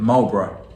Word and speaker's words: Marlboro: We pronounce it Marlboro.